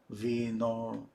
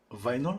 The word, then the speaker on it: vinyl: let's read the comments vinil is pronounced like final fine or vino vino vino okay vinyl that's okay anyway thank